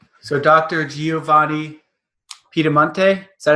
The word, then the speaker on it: Piedimonte: Giovanni Piedimonte, is that how you pronounce it? Yeah, almost. I want to hear you say it. Piedimonte.